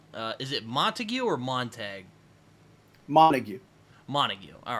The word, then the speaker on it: Montague: Montague. Montague. All right. Yeah. I do know how that's pronounced because of Shakespeare, but I wanted to be sure.